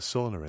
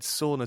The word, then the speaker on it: sauna: Because I said sauna to begin with, and I realised that I prioritised the Swedish pronunciation, and I wanted to also make sure that any of our Finnish listeners won't be upset.